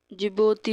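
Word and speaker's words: Djibouti: एक तो हम देख सकते हैं कोमोरूस हो गया, एंड जिबोती हो गया, इसमें डी साइलेंट रहेगा, इरिटेरिया हो गया, एंड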